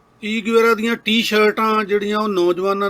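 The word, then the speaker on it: Che Guevara: ची गुवेरा जिन्हों असी ची गुवेरा कहने लेटिन अमेरिका वाले उन्होंने चे प्रोनाउंस करते हैं चे गुवेरा कहते उन्होंने तो गल इको ही आ।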